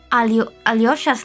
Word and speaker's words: Alyosha: And we went to Google Translate to translate Russian to English Alyosha's name, and his name is pronounced Alyosha. Alyosha. So it is with a Y.